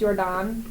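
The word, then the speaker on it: Jordaan: I've never seen the I think it's technically pronounced yordon mhm District I see that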